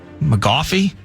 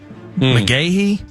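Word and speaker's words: McGaughey: to butcher the name, McGoffey, McGahey. Spell it. Mick, MC, Gaughey. Yeah, it's either McGahey or McGoffey. I think it's McGahey, but either way.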